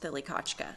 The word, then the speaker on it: Thlikachka: On either side of our Muskogee woman in the image, it says Thilikachka on one side, and that is the phonetic way to say Broken Arrow in Muskogee Creek language.